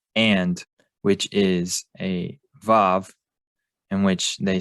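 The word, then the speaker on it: ו: they will use a Wa. So what this is showing is that when you compare Hebrew speakers around the world, you find them being consistent in using Vav and pronouncing it as a Vav.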